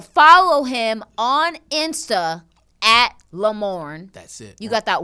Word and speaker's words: Lamorne: make sure to follow him on insta at lamorne that's it you got that one one names